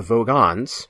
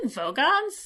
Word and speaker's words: Vogons: The Vogans, not the Vogons. This is the second Hitchhiker's reference in this podcast. I did say that when we were watching this episode. I was like, did he say Vogons?